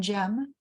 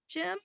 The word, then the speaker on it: Jem: I read it yeah Jeff it's not right gem it's like yeah yeah it's j-e-m I listen to the audiobook and they pronounced it I just wanted to make sure yeah because I was like is it not Jim is it something else